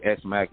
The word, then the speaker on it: ESMAC: put out through SMAC, spelled ESMAC, but I'm from the East Side, so I spelled the ES. You know what I mean? But it's pronounced SMAC, which was short for Snoop Mac.